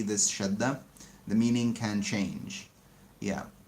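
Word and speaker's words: شدّة: And a shadda, even in the name, shadda, it's a double d, shadda.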